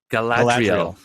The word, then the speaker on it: Galadriel: I can't even pronounce these names. Galadriel, how do you say it? Galadriel.